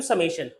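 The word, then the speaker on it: summation: अब आप इसको बोल सकते हो समेशन। क्या बोल सकते हो, समेशन। सिग्मा भी ठीक है, गलत नहीं है, लेकिन समेशन ज्यादा एक अच्छा प्रोनाउंसिएशन होता है।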